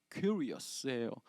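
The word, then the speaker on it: κύριος: 헬라어로 굳이 한 번만 발음해 드리자면 큐리어스예요.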